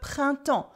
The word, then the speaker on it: printemps: We also have le printemps for springtime, le printemps, with a silent P, a silent S, and you don't hear any N or M sound either.